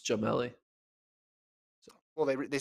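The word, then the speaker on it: Gemili: russell but adam jamelli i said his name wrong i said gemelli it's jamelli well they they said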